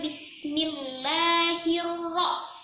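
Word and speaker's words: بِسْمِ اللَّهِ الرَّحْمَٰنِ الرَّحِيمِ: SIM sukun langsung ditekan gas untuk Wendy tekan membacanya bis-bis Nah coba sama-sama bis-bis bisa ada pantulan ya this Nah sekarang kita lanjutkan Bismillahirohmanirohim Bismillahirohmanirohim Bismillahirohmanirohim bismillahirohmanirohim itu cuma satu ayunan Kenapa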